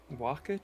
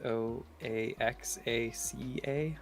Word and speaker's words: Oaxaca: jake it's so good is that how you pronounce it um wakka cheese but it's spelled o a x a c a as far as i've heard it pronounced yeah what's the flavor